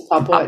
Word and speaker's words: Papua: It's Papua.